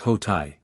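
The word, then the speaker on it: Hotei: am talking about anyway hoto pronounced hotai ancient China through the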